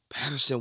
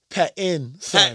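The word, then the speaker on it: Pattinson: say something fire what every time you say his name pattin son P what Paton you done called him Patterson about about three different episodes this out that's that's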